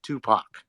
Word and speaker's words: Tupac: Tupac.